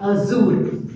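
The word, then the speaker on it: हज़ूर: यहाँ पर ज के नीचे में डॉट दिया, इसका उच्चारण हम लोग जेड करेंगे, क्या करेंगे, जेड, ज, गुजराती में ज आवे ना, राइट, वही हम लोग यहाँ पर उच्चारण करेंगे, राइट।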